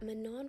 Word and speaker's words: Manon: I am so embarrassed because I only just found out that Manon from Cat's Eye's name is actually pronounced Manon.